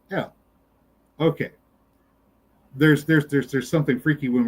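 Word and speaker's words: אל: However, there are some words where it isn't, and you have an eh sound instead, like in El. El is the Lord who is God. One might think that's supposed to be masculine, but it's pronounced El.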